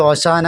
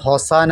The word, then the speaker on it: ഓശാന: വാക്ക് അനേകം തവണ പ്രത്യക്ഷപ്പെടുന്നത് മലയാളത്തിൽ ഓശാന എന്നും ഹോസാന എന്നും ഒക്കെ ഉച്ചാരണഭേദങ്ങൾ ഉണ്ടെങ്കിലും രണ്ടും ഒരേ വാക്കിൽ നിന്ന് ഉത്ഭവിച്ചതും ഒരേ അർത്ഥം ഉൾക്കൊള്ളുന്നതുമാണ് ഹോഷിയാന എന്ന ഹീബ്രു വാക്കാണ് ഓശാന